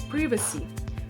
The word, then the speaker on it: privacy: The stress is on the first syllable and the I sounds like a short E as in pin, so it's privacy.